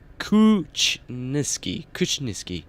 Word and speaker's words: Kuchniski: And also you pronounce my name Kuchniski. Alright.